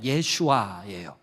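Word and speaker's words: ישוע: 똑같은 이름을 차용하고 있어요 그거를 히브리어 발음으로 하면 예슈아 여호수아 같은 말이에요 그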